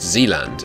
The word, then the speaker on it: Zealand: begin just Leland Xena I think it's pronounced Zealand as in like new zealand although i think new